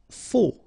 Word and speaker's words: faux: Faux. Okay, final X not pronounced, then you get this AU together. O, faux.